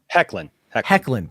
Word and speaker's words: Hoechlin: So it's like he's not messing with Superman, which means there's still something happening with Superman, and it ain't Tyler Hoechlin. Hecklin.